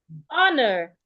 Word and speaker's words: honor: In the word honor, the H is silent.